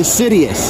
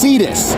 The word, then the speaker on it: Cetus: So be looking forward to the Sidious. Actually, it's pronounced Cetus.